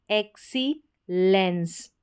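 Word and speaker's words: excellence: ई एक्स को एक्स पढ़ा x lens एक्सीलेंस एक्सीलेंस उत्कृष्टता इस तरीके से आप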